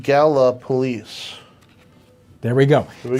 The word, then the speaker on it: Gallipolis: It's pronounced Gallipolis.